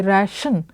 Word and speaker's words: ration: For T-I, he said T-I is often pronounced as sh, so sh could be written as T-I in the word fish. For example, as in the word ration, we say ration, the T-I is pronounced as sh.